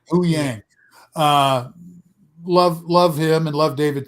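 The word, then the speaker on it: Huyang: How do you pronounce his name? Hu Yang. Hu Yang.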